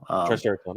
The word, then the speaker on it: Triceraton: how do you say his name triceraton no triceraton I think you're right yeah triceraton and then